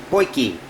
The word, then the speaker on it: potjie: of course is actually a South African buggy or they also pronounce it pokey it is a it